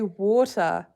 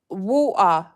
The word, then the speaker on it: water: Can you say water? Water. Water. Like that. Water. Water. You say water, but you say water, water, water. I want some water. It's water. Pronounce the T.